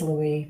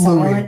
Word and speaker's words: Louis: to say his name it is Louie because this is Louie the S is silent in French yeah that I do